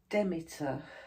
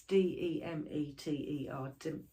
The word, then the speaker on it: Demeter: other one is called demeter so i think you say it like that it's d-e-m-e-t-e-r demeter demeter and it's this one